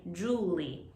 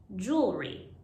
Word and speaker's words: jewelry: one is jewel re this is hard because the r and l are next to each other and they have such different mouth shapes first say jewel jewel then re jewel re jewel re many language groups have a problem with the r sound so if you don't know how to say the r sound it'll sound like you're saying julie so for round